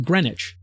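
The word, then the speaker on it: Greenwich: recognized base of all human time is in green witch in the United Kingdom oh excuse me despite being spelled like green witch for some reason only known to people from England and Boston is pronounced greenich with an extra e and an entirely Superfluous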